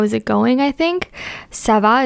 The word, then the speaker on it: ça va: Ça va is also spelled with the C in the beginning, but it's the C cedilla. So it's pronounced ça va.